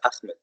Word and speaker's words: Ahmed: no, it's not Ahmed, it's Ahmed. Ahmed. Ahmed. No, Achmed.